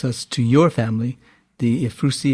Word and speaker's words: Ephrussi: In your next letter, you introduce us to your family, the Ephrussi, if I pronounce it correctly, Ephrussi family. That's correct, yes.